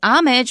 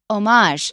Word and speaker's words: homage: so we're thinking well since it's from French we shouldn't say homage we should say homage yeah so you're going